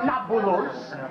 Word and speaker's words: Nablus: an arab name when the romans expelled the jews from our country they changed the name of shechem to napolus as in naples the arabs have trouble pronouncing a peace so nakulus became nabulous and if anything we